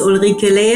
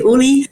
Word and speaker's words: Uli: get straight into the episode my name is Ola and as you heard I mean U was calling me Olie that's much easier to pronounce for the International